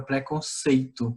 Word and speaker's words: preconceito: Diferente, por exemplo, da palavra preconceito, né? A sílaba sei, a gente faz o quê? Uma pronúncia um pouco mais fechada.